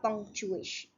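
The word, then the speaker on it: ponctuation: It's la punctuation. Watch out for the French pronunciation of the ending. Sion, nasal, not shion.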